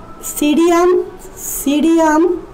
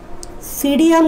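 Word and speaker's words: Psidium: পেয়ারার scientific name হচ্ছে সিডিয়াম guava, সিডিয়াম guava, এখানে পিটা উচ্চারণ হবে না।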